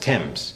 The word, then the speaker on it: Thames: it spelled th am es but it's actually pronounced temps the word Thames comes from brittonic Celtic which